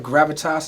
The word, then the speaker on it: Gravitas: How do you pronounce it? Gravitas?